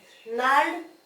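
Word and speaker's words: gnarled: नाल्ड, नाल्ड इसमें that ji will become silent.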